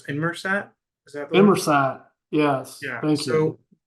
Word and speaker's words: Inmarsat: I think you were trying to pronounce Inmarsat. Is that the one? Inmarsat, yes, Yeah.